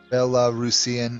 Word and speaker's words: Belarusian: to say it but it's Belarus so Belarusian would be it's not bellow I don't know why I said Belarusian cuz I know that's wrong my apologies Brandenburg might want